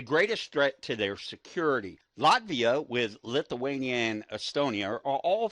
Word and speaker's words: Latvia: bit of history on Latvia Oh now a lot of people will pronounce it Latvia or Latvia well I prefer Latvia because I believe that that's actually how they're natives pronounce her own country but